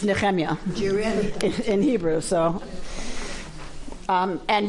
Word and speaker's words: Nehemiah: don't worry you say Nehemiah huh neiah not Nehemiah neemia you can say it however you want but it's neemia in Hebrew so um and yahu is this